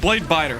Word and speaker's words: Bladebitter: Not blade bitter. Dang it. Blade biter.